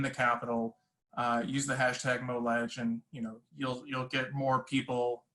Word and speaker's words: MoLeg: Some people often pronounce it MoLeg, and that's funny. But it's MoLeg, hashtag MoLeg.